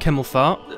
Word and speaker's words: Hemmelfart: As someone said in my last video, what a weird pronunciation. Go and play the games and watch the clip. That is how you say his name. It's actually said like that.